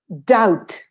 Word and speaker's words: doubt: word same origin probably doubt doubt i have many doubts i don't pronounce the letter b and then this is